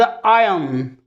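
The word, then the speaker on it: iron: होता क्या है कि इसका सही लफ्ज़ आयन, यहाँ आर प्रोनाउंस नहीं होगा, ये आयरन नहीं है, ये आयन है।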